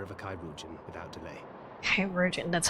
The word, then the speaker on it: Kairujin: Virgin, that's how you pronounce that.